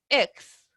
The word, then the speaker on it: eggs: Como que fuera un ex, ¿cierto? De ex partner o ex president, pero no, es con G. Suena muy parecido a la X, pero es mucho más suavecita, ¿ya?